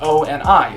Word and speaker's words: ONI: calls it oni and insists that it be pronounced o and i the letters i'm going to call